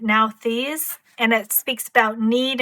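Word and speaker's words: Nauthiz: The guidebook for this shows that you pronounce it Nalthis, and it speaks about need and necessity.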